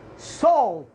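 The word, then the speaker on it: salt: مثل كلمة الملح سولت، سولت اس اي ال تي، جاء بعد الاي ال تي، هذه الكلمة سولت. فماذا نطقت الاي؟ نطقته واو.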